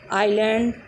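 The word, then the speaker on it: island: तो अगर किसी स्पेलिंग में एस दो लेटर आई और एल के बीच में आता है, मीन्स आई और एल के बीच में एस आ जाता है, तो वहाँ पर एस साइलेंट हो जाता है। For example आइलैंड, islet, oil.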